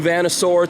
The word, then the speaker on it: Vanasaur: New Vanasaur t-shirt, that's how you pronounce that.